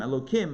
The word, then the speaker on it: Elokim: followed by him but we pronounce it ello followed by kim ello kim instead of with the hey sound again as a sign